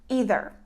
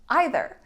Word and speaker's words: either: difficult because it actually has two different pronunciations and this is either or either which means one thing or the other for example tonight I'm going to have either pizza or pasta for dinner so here the pronunciation is actually correct if you say either or if you say either both are correct so you can use